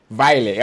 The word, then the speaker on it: Vejle: I mean, I always pronounce your Vejle or Veje. What? How do you pronounce it? The team that Hamzabari and Moussa Diawara play for. Vejle.